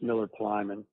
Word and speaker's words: Miller Plyman: So, it's Miller Plyman is how you pronounce that, and he did really